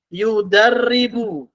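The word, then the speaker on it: يُدَرِّبُ: Yudarribu. Arabnya seperti ini. Kita tahu harokatnya ya. Yudarribu. Ra ada tasdidnya, ya harokatnya dhammah.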